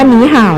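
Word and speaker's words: 你好: ค่ะ ฉัน ชื่อ สุภาพร สุด สถาน คำ ว่า หนี ห่าว นะ คะ เรา รู้ โดย ทั่ว กัน อยู่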